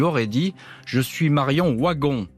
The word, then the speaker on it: Wagon: dit je suis marion waggon marion wagon comme le prononce les gens du nord et comme on le prononce dans la famille wagon je suis marion waggon